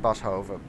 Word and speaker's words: Boshoff: Now it says Jorik Boshoff. That's how you call it in. That's how you pronounce it in Dutch, because it's a Dutchman, but I hope you guys know who I mean.